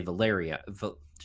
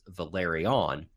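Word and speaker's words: Velaryon: that pronunciation right because I always want to say valaria see I just must I just messed it up yeah valerian but of course their name is Valeri on which we can we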